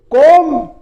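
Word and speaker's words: comb: फिर देखिए कोम। कोम इसमें बी साइलेंट रहता है। बहुत से इसको क्या बोलते? कोम्ब बोलते हैं। कोंब कोम्ब नहीं होता है। यह कोम होता है।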